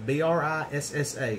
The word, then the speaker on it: Brissa: everything where we at where we at brissa b r i SSA so I'm going to pronounce it brissa um for those of